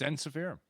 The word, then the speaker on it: Ensiferum: So it's ensiferum. Is how you say it.